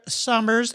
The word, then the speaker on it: Sommer: these links on summers and i'm going to pronounce or been a speller name i should say i pronounce it summer but it's s-o-m-m-e-r apparently it goes back